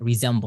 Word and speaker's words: resemble: Next one is resemble, z sound. Resemble, not resemble, is resemble. Next one is uphill battle.